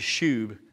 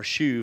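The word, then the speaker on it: שוב: basic hebrew root but the hebrew word is shub or shuv as they pronounce it it means return and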